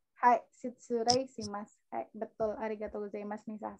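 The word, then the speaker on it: 失礼します: Dibacanya si Surei Shimasu. Hai, Shitsurei Shimasu.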